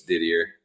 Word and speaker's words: Didier: I think, properly it's Didier, but I know I've been called Didier my whole life, so it's Didier. Didier. At the shows and all that stuff, it's Didier. You get throw a little French accent on the end of that, right?